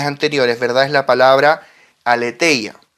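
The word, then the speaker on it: ἀλήθεια: Ahora, en este pasaje, verdad, lo hemos visto en oportunidades anteriores, verdad es la palabra aletheia, que en realidad en griego se pronuncia Alicia.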